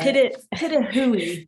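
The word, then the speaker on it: pitohui: Pitahui. I know, it's weird. Pitahui is how you say it.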